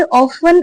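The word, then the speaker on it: often: आर ऑफन exposed. Are यानी है या फिर होते हैं। ऑफन अक्सर यह वर्ड ऑफन होता है। इसमें जो टी होता है साइलेंट होता है।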